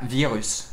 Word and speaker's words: Vyrrhus: aujourd'hui on s'attaque à virus ça se passe comme ça ça se prononce tout à fait comme ça le virus donc on a bien